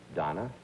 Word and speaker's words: Dana: show and it's it's easy to do because it's spelled da na right VA ll ER why you think you'd say Dana Donna right there on but it's not it's